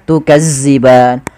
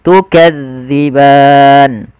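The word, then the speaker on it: تكذبان: lafal Ma kemudian tukziban hati-hati di dalam melafalkan Zal karena Zal ini salah satu huruf idlak yang dia pelafalannya di ujung lidah kita menempel dengan Gigi Sari ya maka gigi Sari atasza Jangan dibaca dengan zza Maka jangan baca tukazziban tapi kita bacanya tukadziban kemudianfal ban kembali lagi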